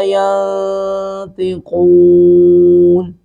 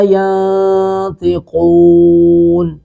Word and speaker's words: ينطقون: هذا يوم لا ينطقون. هذا يوم لا ين، نون ساکن کے بعد طا ہے، یہاں پہ قلقلہ، یہاں پہ اخفا کریں گے. یوم لا ينطقون، یوم لا ينطقون، قوف کو پر کر کے پڑھیں گے.